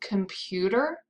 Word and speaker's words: computer: Can you find the stressed syllable in computer? Computer. Computer. That's right, it's the second syllable, the middle syllable.